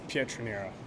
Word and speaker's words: Pietroniro: know how to say it but would you pronounce your last name for him it's Petrino yeah uh I'll ask you just about you